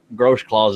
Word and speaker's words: Grossclaws: He might have had your thumbnail clicked when he got knocked out, but the Chad Grossclaws is how it's said, but it looks like Grossclags.